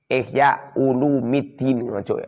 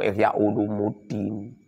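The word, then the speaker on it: إحياء علوم الدين: kitab, fi ihya'i ulumiddini, ihya ulumiddin, ojo ihya ulumuddin, salah itu. Long ihya ulumuddin, ihya itu mudhof, ulumi itu mudhof ilaih. Mudhof ilaih dibaca rafa pernah bacir. Bacanya itu ihya ulumiddin.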